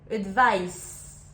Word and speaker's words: advice: Le premier avec un C se prononce avec le son S, advice.